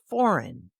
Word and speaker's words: foreign: The silent G, as in sign, S-I-G-N, design, D-E-S-I-G-N, and foreign, F-O-R-E-I-G-N.